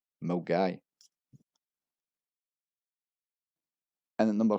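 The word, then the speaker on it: Milngavie: And at number 5 we have the infamous Mulgavi, which is actually pronounced as Mulgai. Mulgai.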